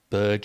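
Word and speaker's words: Berge: sander bger was one of those great examples Burge sander Burge know be as he actually said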